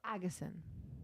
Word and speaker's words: Agesen: No, Agesen.